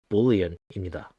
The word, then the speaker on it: boolean: 자, 그리고 아무것도 없는 것을 의미하는 이 자료형은 null이 아닌 null이라고 발음하고 참, 거짓이나 일령 같은 불린 자료형은 boolean이라고 합니다. 한글로는 불린이라고 하는데 영어 발음은 boolean입니다.